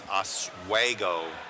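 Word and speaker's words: Oswego: from uh I was saying it wrong it's aswo Illinois around that area yeah we'll end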